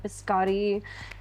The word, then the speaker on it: biscotti: was we had conchas, but we also had biscotti.